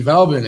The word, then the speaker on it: Veblen: should know who Thorstein Veblen is well babblin I always say velbon I always say his name wrong but he wrote the